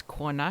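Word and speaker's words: kona: And the Icelandic word for woman is ka, k o n a, which I thought was a bit drab.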